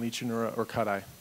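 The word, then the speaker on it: Lichanura orcutti: No, but we would like the appropriate scientific pronunciations. That was really close. I commend you on that. It's Licanura trivirgata, and Licanura orcuti, for those who are taking notes.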